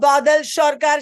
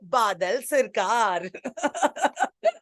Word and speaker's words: Badal Sarkar: Oh, Badal Sarkar, she is saying, because he is Bengali and she is pronouncing his name the Bengali way. Very good. I would say Badal Sarkar.